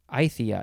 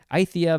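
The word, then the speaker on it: Aythya: name is uh how do you pronounce this is spelled a-y-t-h-y-a i-thea it's almost a palindrome ithia veliceneria so those were all the words we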